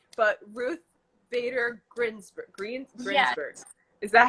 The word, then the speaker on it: Ruth Bader Ginsburg: So I've heard that one of your idols is, I don't want to pronounce it wrong, but Ruth Bader Ginsburg.